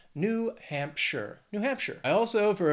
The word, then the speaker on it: New Hampshire: next is New Hampshire two words three syllables the stress is going to be on that first syllable in the second word looking at Hampshire now that last syllable it's not sh it's not like Frodo in the Shire it's sure New Hampshire New Hampshire I also